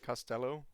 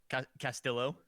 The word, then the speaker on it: Castillo: so what do you would you would have said like costello or something castillo yeah that would be true sometimes